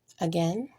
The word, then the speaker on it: again: So let's do a recap of part 3, words with silent letters. Today we learned about words such as said with the I being silent, again with the I being silent, the word write,